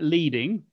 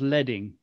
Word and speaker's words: leading: Then it's got here this one that says it looks like leading, but it's actually pronounced leading, because it comes from the original things when they used to use lead to produce type.